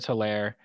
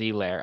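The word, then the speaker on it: Edwards-Helaire: still stick with edward solaire edwards e lair i guess it's pronounced um and uh and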